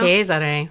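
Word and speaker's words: Giulio Cesare: say it right now cheser cheser cheser yeah little Italian to it you want to be like Cesar and they're like no ches CH it's fun it is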